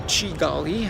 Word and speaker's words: Kigali: of the government in Kigali, or Chigali, as locals tend to pronounce it.